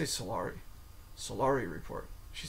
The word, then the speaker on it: Solari: She's currently the publisher of the Solari Report. I say Solari, she calls it the Solari Report.